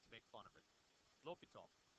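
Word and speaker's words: L'Hôpital's: that applies to limit okay ah this is pronounced loaf at all okay you say it low feet tall everybody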